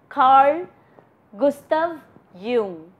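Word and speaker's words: Carl Gustav Jung: is Carl Gustav Yung this is the spelling the pronunciation is Carl Gustav Yung this person said that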